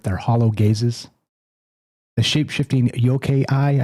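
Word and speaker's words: yokai: The shape-shifting yoke eye, I think is how you say it, to yo k a i.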